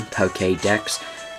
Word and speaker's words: Pokédex: The reason why I'm pronouncing it Pokédex, that the E with the accent over it is pronounced as an A, so like Jose, Pokemon.